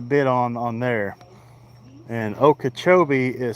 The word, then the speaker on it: Okeechobee: if anybody's interested, you can go on Lake Okachchobee crappie club and I I post quite a bit on on there. And okachobee is spelled o k double e c h